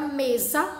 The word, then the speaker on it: mesa: apenas 1s ok mesa percebo também que ao pronunciar a palavra mesa eu tenho lailson ds e não som aliás desculpa eu tenho um som do z e não do s então logo eu escreverei com s o que turma vamos